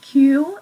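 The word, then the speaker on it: queue: our last vocabulary unit we had a word Q as in a line that you stand in and students are not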